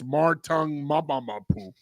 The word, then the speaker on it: Marte Mapu: cut you off, John, you need to say his name the right way. I didn't know how to say his name until Bill Coward taught me how to say it in one of the uh highlights he did on the Patriots. It's Martong Maboo.